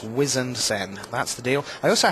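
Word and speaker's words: Wizened Cenn: It's Harbinger, and it's Wizened Sen.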